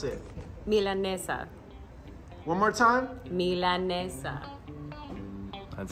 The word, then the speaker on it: milanesa: who to ask hey Alison how do I pronounce it milanesa one more time Mila that's how you doing